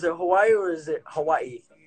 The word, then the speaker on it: Hawaii: Is it Hawaii or is it Hawaii? Hawaii. Hawaii. See, it's kind of like the W is pronounced as a V.